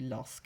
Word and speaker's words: lorsque: Lorsque, so this one and the last one both had a Q to make the k sound, and both of them had QU actually.